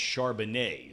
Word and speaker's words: Charbonnet: And by the way, I want to thank Nick for reminding me that it's pronounced Charbonnet is how you pronounce the guy's name out of UCLA.